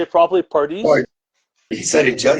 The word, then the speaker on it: Pardis: Pardis.